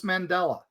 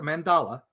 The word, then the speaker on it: mandala: Uh making a making a suncatcher is big on this day or just making a a solstice mandela. Not the Mandela effect, a mandala. Sorry, I mispronounced that.